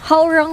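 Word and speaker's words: Hwoarang: how, akala ko dati pag-pronounce kayo, Huarang, Howrang. Ay, Huarang. Yun, Huarang. Huarang. Howrang pala siya.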